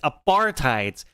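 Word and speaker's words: apartheid: that all right aparti because it comes from the it's Africans it's an Africans word which comes from Dutch un unfortunate for you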